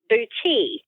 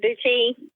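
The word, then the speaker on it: boutis: techniques I have recently learned how to do boui have you ever heard of bouti no oh it's beautiful you need to look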